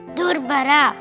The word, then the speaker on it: ದುರ್ಭರ: ದುರ್ಭರ, ಏ ಯಾವ ಬರನೆ? ಅದು ದುರ್ಭರ ಅಂತ ಆಗ್ಬೇಕು. ಅಮೃತ, ಅದನ್ನ ಅಮೃತ ಅಂತ ಹೇಳ್ಬೇಕಮ್ಮ.